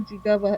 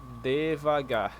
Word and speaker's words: devagar: But somebody now said it's not digava, it's devaga, something. Devagar. Like he diga digava. So, it's G G is being pronounced, not J.